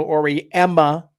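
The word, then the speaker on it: Auriemma: I'm really high on the North Carolina State squad, but again, Gino Ori Emma. Okay, UConn fans, I pronounced it right this time.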